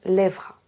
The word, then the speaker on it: lèvera: Ici, je n'ai pas prononcé le E dans lèvera. Pourquoi cette différence?